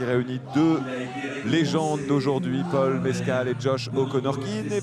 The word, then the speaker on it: Mescal: Paul Mescal. C'est Paul Mescal peut-être, mais peut-être qu'en américain... Il faut le prononcer comme ça, pour éviter de penser à du mezcal justement, hein, c'est cet alcool mexicain.